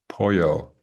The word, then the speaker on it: pollo: After all, polo is Spanish, pronounced pollo, and means chicken.